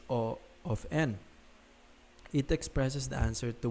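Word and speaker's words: O(n): Some pronounce this as big O of n, others call it order of n. My personal preference, however, is O of n.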